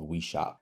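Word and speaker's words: Oui Shop: called We Shop, and it's spelled like this, you know, the French we and then shop. But because your persona is speaking English, in most cases, it's going to pronounce it like O-U-I shop. It's not going to say We Shop.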